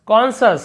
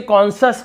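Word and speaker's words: conscious: वैसे ही देखिए यहाँ पे कॉन्शियस, कॉन्शस, हम इसे कॉन्शस कहते हैं, कॉन्शियस, यहाँ पे यहाँ पे सी का उच्चारण नहीं कर रहे हैं।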